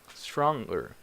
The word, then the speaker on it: stronger: what about this one stronger stronger so this one is tricky because after the ng you have E R sound so this e R